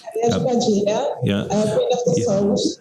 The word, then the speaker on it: Padilha: Am I pronouncing that correct? Padilla, yeah, Queen of the Souls.